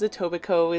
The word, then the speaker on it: Etobicoke: just to be clear he knows etobicoke is pronounced with a silent k and that it originates